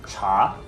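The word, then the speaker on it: 茶: In other branches of Chinese, tea is not pronounced te, but pronounced cha, so satay sauce evolved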